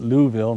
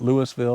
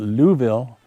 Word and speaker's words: Louisville: Louisville I'm told that's the proper way to pronounce it Louisville not Louisville or Louisville but Louisville and even the chickadee up here is going